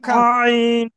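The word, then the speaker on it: خ: তাহলে এটা কি হবে গলা গলার শেষ ভাগ থেকে উচ্চারণ করবো।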